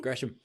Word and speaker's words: Gresham: B, pronounce his last name properly. And then re-enter the chat. I like the enthusiasm. Gresham.